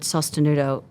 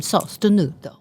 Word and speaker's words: sostenuto: Anyway, so I started looking at Italian terms, and in Italian, the word sostenuto is means supported and sustained.